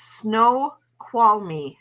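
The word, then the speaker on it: Snoqualmie: my god oh okay so it's pronounced snow qual me snow qual me oh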